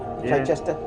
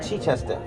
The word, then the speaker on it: Chichester: Chichester? Yeah. He said I said it wrong. Chichester.